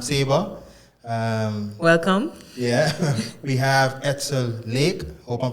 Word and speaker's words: Edsel Lake: Yeah, we have Edsel Lake. Hope I'm pronouncing and saying your name correctly.